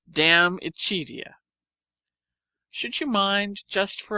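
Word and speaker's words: De Amicitia: We've finished Livy and De Senectute, and are now engaged with Diamicitia, pronounced Damicitia.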